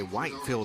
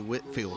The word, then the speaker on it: Whitfield: Whitfield Academy sorry and when you look at the way it's spelled you want to say Whitefield Academy but it's actually Whitfield Academy and they played right